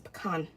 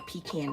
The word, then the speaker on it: pecan: And I know at least one of them is not going to be a double crust cuz my husband wants a pecan or pecan depending on how you say it pie.